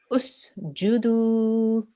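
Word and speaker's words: اسجدوا: This third letter, the Jim, has a dhamma on the top. So what stroke will we put on the alif here? A dhamma. Excellent, well done. So we will pronounce this like this.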